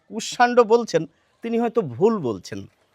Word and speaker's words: কুষ্মাণ্ড: এবার আমরা জানিয়ে রাখি এর প্রচলিত উচ্চারণটা কি, যেটি বেশিরভাগ মানুষে আমরা বলে থাকি। এটিকে আমরা বলে থাকি দুষ্মন্ত, আর এটিকে বলে থাকি কুষ্মাণ্ড। কিন্তু কিছু মানুষ দুষ্যন্ত বলেন, কিছু মানুষ কুষ্মাণ্ড বলেন।